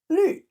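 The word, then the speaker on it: 律: Lü, that's from the lü, fourth tone, 第四声 fourth tone, lü.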